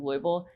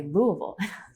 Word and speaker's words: Louisville: people thereare say but I was just corrected last night on my pronunciation of louel by someone from Bowling Green which is another city in Kentucky um yeah she was like oh no that's not how you say it you say Louisville like well I am